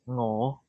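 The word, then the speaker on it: 我: in Cantonese is pronounced as ngo. Ngó. Ngo. But this is the dictionary one. In daily life, people don't pronounce the ng. So or is how you say me or.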